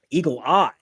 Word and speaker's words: Eagle AI: vote challenge group called Eagle AI by the way if you recognize that name Eagle ey which is how she pronounces it Eagle Eye um that was back